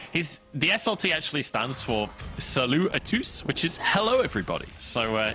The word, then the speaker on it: Salut à tous: I'm not sure you pronounce the S at the end of it. Would not just be... You do, I asked.